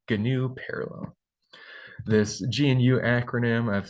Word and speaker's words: GNU: open source clubs that we pronounce the gnu project as gnu with a hard G out front so this is the